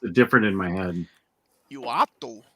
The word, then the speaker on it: Uatu: Uatu. Uatu? Yeah, Uatu. He just pronounces it Kevin.